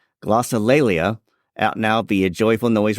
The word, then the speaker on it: Glossolalia: Is it Glossolalia, or is that totally wrong? Glossolalia. Glossolalia. At least that's how I pronounce it.